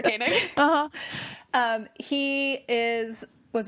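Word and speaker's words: Koenig: Rashida Jones married to Ezra kanig I think that's how you pronounce his last name I don't know if he's like Sarah kanig that's how you pronounce that's exactly right yes my reference was Sarah caning uhuh um he is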